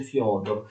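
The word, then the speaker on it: Фёдор: si chiama Fyodor I, si scrive Fedor con questi due puntini sulla E, si legge Fyodor.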